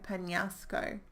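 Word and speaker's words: Peñasco: pan-pan NASA co-panelist Co Penasco there we go Penasco I forgot how to do the accent on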